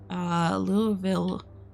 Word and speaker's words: Louisville: As the Kentucky residents pronounce it, Louisville, or was it W-E? But it's pronounced Lewis, like the name it's supposed to be.